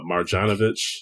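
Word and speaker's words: Marjanović: do you know about this trade it was Marjanovic that's how you say his name and grant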